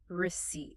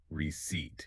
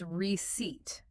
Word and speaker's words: receipt: And for this social interaction, you must have a receipt. Receipt. And be careful with the pronunciation here. The P is silent. It is not receipt. It's receipt.